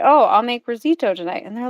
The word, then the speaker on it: risotto: And so for the longest time, I thought risotto was spelt with an extra I, like risito and not risotto. And Hmm. so I would always say risito, and my kids would say risito.